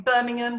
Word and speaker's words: Birmingham: I was born in Birmingham, which has no ham in the pronunciation.